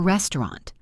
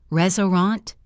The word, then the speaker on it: restaurant: Or restaurant. Restaurant? No. Restaurant. 2 syllables. Restaurant.